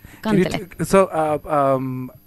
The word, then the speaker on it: kantele: the one-woman renaissance for the instrument known as kantele. Yes. Did I pronounce that right? Kantele? Yeah, kantele.